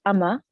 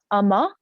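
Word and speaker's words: Umma: project so it's a korean film and it's pronounced amma amma which means um mom in korean and it's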